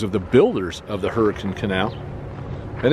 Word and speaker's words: Hurricane: are the names of the Builders of the hurricane canal and it's pronounced hurricane not hurricane and this is the historic hurricane